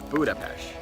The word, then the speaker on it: Budapest: but pronounced Buda-Pest.